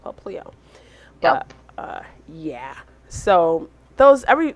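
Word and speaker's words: Popplio: And then the sea lion questionable Pokemon is Papilio. No, Paplio. Paplio. Yeah, I want to say that's how it's pronounced, Paplio.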